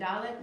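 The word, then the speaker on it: דלת: One stroke, another stroke, and Dalet makes the D sound. Duh. So Dalet, D.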